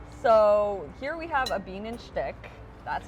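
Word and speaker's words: Bienenstich: So here we have a bean and shtick. That's how you pronounce it.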